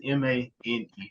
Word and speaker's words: Maine: It's like he adds a silent G when he says Maine. Maine is Mane for y'all that do not know.